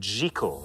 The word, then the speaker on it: Jekyll: Gertrude Jekyll, as some people pronounce it. Oh, I thought it was Jekyll.